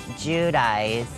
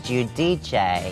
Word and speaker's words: Giudice: hard time with it well it was judaiz and then I realized it was judici but we went all